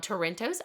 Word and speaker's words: Toronto: to the quintuplets and Dr Alan Brown from Toronto's hospital for six children that's how you say